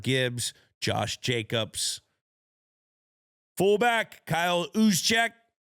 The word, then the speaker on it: Juszczyk: Fullback, Kyle Juszczyk. Spelled with a J. Sounds like a ooze, though.